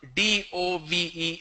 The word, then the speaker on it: dove: Next is dove, D-O-V-E is dove, like L-O-V-E is love, D-O-V-E is dove. A lot of people mispronounce love as low, low.